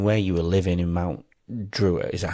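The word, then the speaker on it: Mount Druitt: And um I mean where you were living in Mount Druiter, is that how you pronounce it? Mount Drew.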